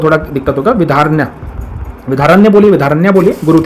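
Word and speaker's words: विद्यारण्य: विधारण्य, विधारण्य बोलिए, विधारण्य बोलिए, गुरु थे इनके, ठीक है, प्रोनाउंसिएशन के थोड़ा माफी चाहूंगा, ठीक है।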